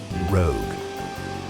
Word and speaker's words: Rogue: And if voice control is what your heart desires, remember, it's pronounced Rogue.